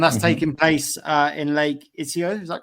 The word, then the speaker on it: Iseo: And that's taking place in Lake Iseo, is that correct? Iseo, yes. Iseo. It's an Italian pronunciation.